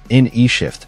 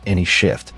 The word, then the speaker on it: N shift: changer is a feature called n shift apparently not pronounced any shift based on the puzzled glances we received from the engineers utilizing a clever combination